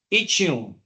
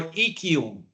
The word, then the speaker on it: ischium: This is the ischium or ischium. It doesn't matter how you pronounce, it can be pronounced either or.